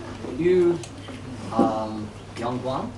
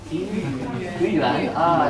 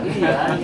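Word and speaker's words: 豫园: And then while I was here, I got a chance to visit Yu Yangguang. Is that right? How do you say that? Gongyuan. Yuyuan. Yuyuan, yes.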